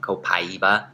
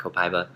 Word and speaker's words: copaiba: It's actually, a lot of people are pronouncing it copaiba. Right. But I like copaiba.